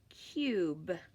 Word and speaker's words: cube: Before we put our silent E on, you'll notice that this U would then make a short sound like cub, but as soon as we put that silent E on, it says ooh, cube. Okay.